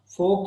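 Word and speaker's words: fork: Tuning फोक, फोक इसको पढ़ते हैं, फोर्क नहीं पढ़ते हैं, फोक, FOK, आर जो है वो साइलेंट होगा। ट्यूनिंग का मतलब है जिस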